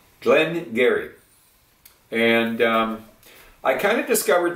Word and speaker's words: Glen Garioch: know Glenn but it spilled g-a-r-i-o-c-h and it's pronounced Garrett some Dairy Gary not garyach garyott Glenn Gary and I kind of discovered these on my